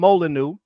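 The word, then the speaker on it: Molineux: There was a dude named There was a dude named Tom Molyu. It's spelled with the French way.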